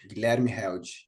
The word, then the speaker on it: Guilherme Held: pronounce his name? Yeah. Guilherme Yeah. Held. Guilherme Held.